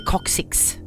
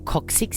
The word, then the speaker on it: coccyx: Apparently, it's very painful when you break your coccyx. Is that how you pronounce it? Yep. Coccyx, coccyx, coccyx.